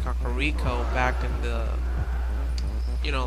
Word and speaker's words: Kakariko: And this is Kakariko Village. Or Kakariko Village, or Kakwakior Village. Because all of a sudden English kind of changes the pronunciation of everything. I like to call it Kakariko back in the, you